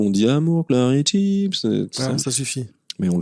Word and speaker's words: chips: Pomme de terre chips. Non. Chips. Une chips sans le une chip. Ah oui. Tu vois? Sans le S. Vous prononcez pas le S.